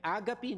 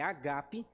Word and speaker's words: Ágape: no assim não é a Gabi não é assim que fala amor Ágape mas a pronúncia certa é Ágape o assento é no lugar diferente É o Amor Ágape